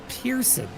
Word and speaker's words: Person: out uh that his his last name is spelled as person but it turns out it's pronounced as Pearson which is so unusual